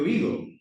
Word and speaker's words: oído: aberta de ter acento estoy con dolor de oído como dos no oído oí do mayor intensidad en boga fechada vamos Próxima aquí en un cantiño.